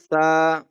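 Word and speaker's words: ث: Okay, letter number four is sa. Sa. Sa. You will bring out your tongue on the letter number four. Okay, sa.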